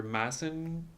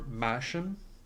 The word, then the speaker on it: Masham: And Maxim is written, I think it can be pronounced either Maxim or Masham.